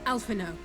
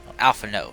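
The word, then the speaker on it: Alphinaud: my brother where is alpha no alpha no the d is silent my lady your brother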